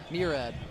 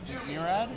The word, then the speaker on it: Murad: Dude, Murad has had how do you say his name? Murad? Murad. Murad? Murad. Murad. I've been saying his name wrong.